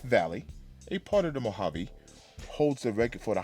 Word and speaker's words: Mojave: And speaking of Mojave Desert, it's Mojave. Not Mojaveis, not Mojave, but Mojave. And it's just like Django. The D is silent, but she won't be.